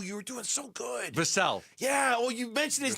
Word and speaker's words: Vassell: together a package that's, now, again, I think Vassal's a good player. I like him. Ooh, you were doing so good. Vassell.